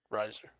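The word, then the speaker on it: Reiser: And And speaking of expanding our brains, today we watched the movie 50/50, directed by Jonathan Levine, written by Will Reaser Riser, something. Riser.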